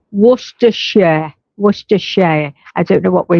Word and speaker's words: Worcestershire: Oh, I love hearing Americans say Worcestershire. Yeah, Worcestershire sauce. What do you say? Worcester sauce, we say. Worcestershire.